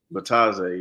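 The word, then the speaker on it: Bitadze: I don't know how to pronounce his name. Goga Batadze? Batadze, yeah, Goga Batadze on Orlando.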